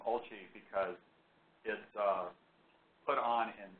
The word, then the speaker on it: OLCI: co shi-lang color imager by the way it's pronounced olci because is put on in Italy anyone who